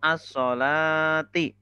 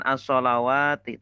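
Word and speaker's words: الصلاة: Bacanya itu as-sholati. Begitu. Bukan as-sholawati, tapi as-sholati. As-sholati.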